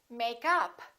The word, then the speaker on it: makeup: we stress a preposition and if it's a noun we stress the first part for example makeup or I'm wearing wearing makeup I'd like to buy